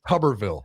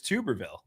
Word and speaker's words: Tuberville: That was his name is Tubberville. It's Tuberville. That wasn't insane. Zack, do you say do you say tube of toothpaste or tub?